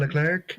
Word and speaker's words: Leclerc: And speaking of Leclerc, excuse me, it's a hard C at the end. I always forget. Um, You don't do French very well. Charles Leclerc.